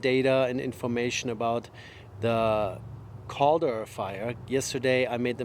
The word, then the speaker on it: Caldor: I apparently have a hard time pronouncing this name correctly, so all the people on the news call it the CALDOR fire. I called it the cauldron fire yesterday for whatever reason. So it's the CALDOR fire, and that's what